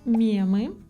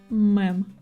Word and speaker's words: мем: Некоторое время назад популярными были мемы. Есть, кстати, две группы людей, два лагеря. Одни произносят мем, а другие мэм.